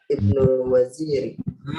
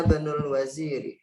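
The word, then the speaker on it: ابن الوزير: Ana Ibnu Waziri. Gimana bacanya? Ibnu man anta? Ana Ibnul Waziri.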